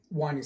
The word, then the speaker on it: winding: Winding sticks, pronounced like, it looks like wind, but pronounced wind, and wind is pretty much twist.